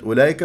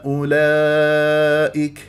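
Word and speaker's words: أولئك: يرضى عنكم فاذا باياتنا اولئك هؤلاء هذه الواو فوقها الصفر المستدير تكتب ولا تلفظ فالبعض يقراها اولئك انت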